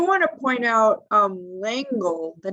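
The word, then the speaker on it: Lengel: to point out um lengle the name lengle the name of the of sammy's boss if you said that in french it's langol uh you know angel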